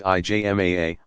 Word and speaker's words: ijma: Ijma, pronounced IJMAA, of legal scholars.